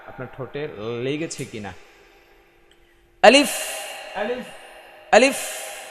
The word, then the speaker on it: ألف: আলিফ, ألف আলিফ। ألف শেষে বাতাসটা বের করে রাখতে হবে আর বাতাসটা চালু রাখতে হবে।